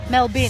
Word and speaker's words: Melbourne: say Melbourne Melbourne so Judy how many syllables in Melbourne what's the first one Mel as in my name Mel and what's the second one Ben as in where you put rubbish not born as in what happens when you're coming